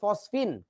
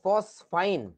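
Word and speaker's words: phosphine: না এটার নাম হচ্ছে ফসফিন পি এইচ ও এস পি এইচ আই এন ফসফিন এখন খেয়াল কর এইটার নামের উচ্চারণটা অনেকে বলে ফসফিন অনেকে বলে ফসফাইন এবং দুইটাই গ্রহণযোগ্য দুইটাই গ্রহণযোগ্য কোন সমস্যা নেই কিন্তু বাংলাদেশের বইগুলোতে যে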